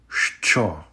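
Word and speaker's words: що: is a very easy yet very important word Cho Cho means what in Ukrainian straw the next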